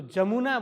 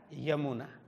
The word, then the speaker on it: यमुना: तो जमुना बोलते हैं, वो है क्या? यमुना। लेकिन जमुना बोलना भी कोई गलत नहीं है। पहले वो वेद की भाषा में क्या, वो य को ज ही प्रोनाउंसिएशन करते थे, उच्चारण किया करते थे।